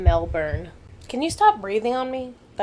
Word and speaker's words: Melbourne: Now, of course, you want to say Melbourne because that's how it's spelled, but for some reason, we call it Melbourne.